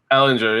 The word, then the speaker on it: Ehlinger: But my main takeaway, might mispronounce this last name, Sam Ehlinger? Ehlinger, yeah.